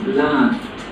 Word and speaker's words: laughed: ending helped knocked sniffed laughed the gh here is pronounced like an ink so it is laughed washed watched kissed danced